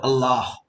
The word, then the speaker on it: Allah: this particular word Allah Al is from the throat it is like a w when you pronounce this La the tongue is touching the teeth and when you pronounce the last a that is breath coming out of the mouth through the lips now what does it